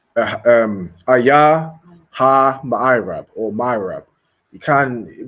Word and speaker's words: ma'irab: Okay, it's ma'irab. Okay, ma'irab. So you're gonna spell that M-A, so ma, then I, just the letter I, then rab, R-A-B, ma'irab.